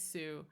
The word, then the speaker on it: Sioux: is the way that you pronounce it, is Sioux.